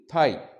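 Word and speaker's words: thigh: त्यानंतर तिसरा शब्द आहे थाई टी एच आय जी एच अस त्याचा स्पेलिंग आहे आणि त्याचा उच्चारण होईल थाई आणि याचा अर्थ मराठी मध्ये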